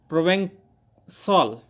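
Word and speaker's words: Provençal: एंड प्रोवेंसॉल, ये जो word है CAL है, लेकिन इसको जो प्रोनाउंस किया जाएगा इसको, वो किया जाएगा किस रूप में किया जाएगा? प्रोवेंसॉल के रूप में, प्रोवेंसाल के रूप में। यहाँ सामने स्पष्ट करके लिखा हुआ है प्रोनाउंस्ड प्रोवेंसॉल, इसको प्रोवेंसॉल के रूप में उच्चारण किया जाएगा।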